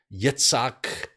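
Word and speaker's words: יצחק: the flood then there was Abraham Isaac or yitzak if you're in in Israel uh Jacob or yaakov right that's how you pronounce it in Hebrew and then Joseph in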